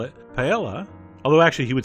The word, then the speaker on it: paella: Ramsay might call it paella although actually he would say it more like paella but anyway the point is some people pronounce the L L and speaking of l